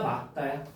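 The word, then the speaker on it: 맑다: 이거 읽어 보세요. 말따야. 막다야. 막다 막다래 외워. 별표쳐.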